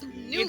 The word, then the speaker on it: Nut: It's Newt. It's spelled N-U-T It's though. Newt.